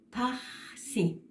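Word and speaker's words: phaxsi: Paxi. No es paxi, ni paxi, como lo pronuncian muchos.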